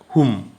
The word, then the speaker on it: Hum: Hum bija, where the vowel pronunciation is short, is a Shiva bija relating to god of destruction. And with long vowel, it is a Shakti bija relating to the goddess.